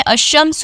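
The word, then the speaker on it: الشمس: जो होते हैं उनमें आप देखें अमस मैं पढ़ रही हूं उसमें लाम मैंने साइलेंट कर दिया है लाम नहीं पढ़ रही अमस डायरेक्ट हमजा से शीन पर आ गई तो ऐसे अल्फाज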